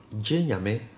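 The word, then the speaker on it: Gye Nyame: So you can see here the D I E is, this is pronounced E and this is pronounced A, so D. Jinyame, this is probably the most common Adinkra symbol,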